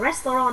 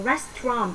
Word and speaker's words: restaurant: Từ này đọc nhá, không phải là restaurant mà đọc là restaurant, bỏ qua âm này.